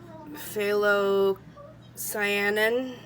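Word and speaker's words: phthalocyanine: or pearl blue uh phthalo cyanine i think is how you say it blue uh color flash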